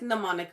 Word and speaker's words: mnemonic: I think it's mnemonic because the M is silent, right?